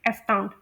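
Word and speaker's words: astound: British pronunciation और American pronunciation इसकी same है, एस्टाउंड। और इसमें जो डिफ्थोंग साउंड है वो आओ की साउंड है, आओ।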